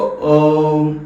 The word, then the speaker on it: ओम: ठीक है, अब ये जो है कई लोग इसको ओम ओम ओम पढ़ते रहते हैं, लेकिन दिस इज नॉट ओम, ये है ओम ओम ओम, AUM मीन्स ओम ओम अउमा। इसका उच्चारण होता है ओम मीन्स AUM।